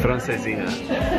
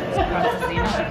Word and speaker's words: Francesinha: Francesinha. Francesinha.